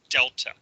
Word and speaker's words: delta: And this triangle is pronounced delta.